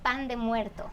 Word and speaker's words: pan de muerto: Pronounce it for me the Mexican way. It's called pan de muerto.